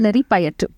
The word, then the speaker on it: Kalaripayattu: How do you pronounce it? Kalari Payattu. Kalari? Kalari. Kalari? Okay. Kalari Payattu.